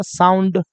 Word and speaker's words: sound: Just like है, एस को क्या बोलिएगा, स, ओ यू को क्या बोलिएगा, आउ, आधा न, ड, साउंड।